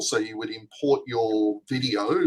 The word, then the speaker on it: Veed.io: I think it's pronounced video. Video, yes.